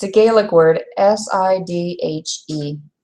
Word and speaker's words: Sidhe: It's a Gaelic word, S-I-D-H-E. Sidhe. Like he, she. But initially you're going to want to pronounce it Sidhe.